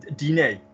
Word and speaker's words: dîner: So therefore, if we go back to the word dinner, D-I-N-E-R, how are we always going to pronounce E-R? Premier. You know, dîner. It's dîner. A dîner.